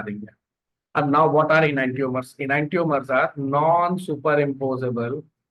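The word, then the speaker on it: enantiomer: उसको बहुत सारे टीचर इनैंशियोमर पढ़ते हैं, बट इट इज एक्चुअली इनैंटियोमर।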